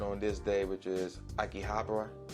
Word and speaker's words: Akihabara: this day which is Akihabara Akihabara yeah that's how you pronounce it again like a